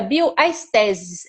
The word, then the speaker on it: Bioestesis: Ela é daqui de Brasília, como eu falei, médica diretora da clínica Bioestesis. É essa pronúncia mesmo.